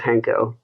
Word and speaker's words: Hanko: ways but uh it's it's like Hank with an O just hanko oh my God I